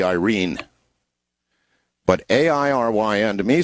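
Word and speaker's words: Airyn: my way of thinking, Aaron. It's A-I-R-Y-N, Aaron. But actually, correctly pronounced, as it would be read by a Filipino, would be Irene.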